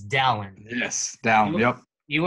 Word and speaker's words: Dallin: All right, Dallin Pepper is here, and we already figured out that's how you pronounce it. It's Dallin.